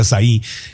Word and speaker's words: açaí: Oye, el açaí que se puso, se escribe A-C-A-I, pero es de Brasil, entonces se pronuncia açaí, que estuvo muy de moda.